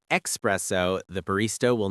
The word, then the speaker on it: espresso: And espresso is not espresso. There is no X. Yes, if you say espresso, the barista will not fight you, but inside they will cry a little.